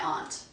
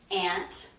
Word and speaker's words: aunt: on vacation with my aunt a u n t i know that aunt is not the number one pronunciation for that word most people pronounce it ant I use Aunt so